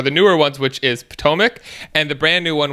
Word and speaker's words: Potomac: say it potomac potomac okay mary thank you potomac that's the one that's the one i see